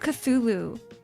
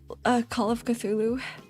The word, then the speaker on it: Cthulhu: Call of Cthulhu.